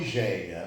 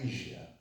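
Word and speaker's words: Hígia: Muitos falam Igeia, né? Eu gosto de falar Ígia, em grego, né? A pronúncia seria Ígia, é um paroxítono.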